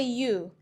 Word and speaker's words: ewe: And you, which means a female sheep. For example, he saw a ewe in the field. He saw a ewe in the field. This pair is pronounced the same way.